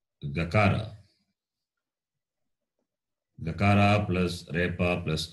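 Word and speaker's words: रेफ: This is always pronounced as repa, remember. Okay. It is not rakara. To call it as rakara is wrong.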